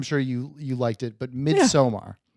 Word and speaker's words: Midsommar: I'm sure you liked it, but Midsommar, right? Midsummer. Is it not? Don't even you disrespect the movies that don't even learn how to pronounce it right. Midsommar. Is it not Midsommar? It's Midsummer.